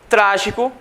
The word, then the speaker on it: trágico: Então, nós temos as palavras trágico, trágico. A sílaba mais forte é o tra.